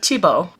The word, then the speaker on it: Thiebaud: that won't happen so Wayne tibo I believe is how you pronounce his name really interesting painter in